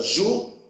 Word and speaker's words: júri: Então, a palavra júri, se nós separarmos as sílabas, fica júri. Ou seja, qual é a última sílaba? A última sílaba é ri. Qual é a penúltima sílaba? É ju. Qual é a sílaba mais forte? É o ju ou é o ri?